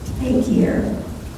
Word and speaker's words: Takier: So I guess when his dad came here about 7 or 8 years old, took the I-A-N off, so his name is Takier.